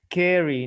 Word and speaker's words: scary: Scary. No es scary. No hay E antes. Scary.